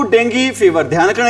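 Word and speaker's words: Dengue: A large number of people have fallen victim to डेंगू fever. ध्यान रखना, इसको बहुत सारे बच्चे हैं क्या बोलते हैं भी, डेंगू बोलते हैं।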